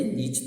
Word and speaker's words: Nietzsche: No final do século XIX, por exemplo, um filósofo alemão chamado Friedrich Nietzsche, a pronúncia é Nietzsche, tá bom?